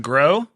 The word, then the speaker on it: Gros: my name is Gro the S is silent dude key I'm really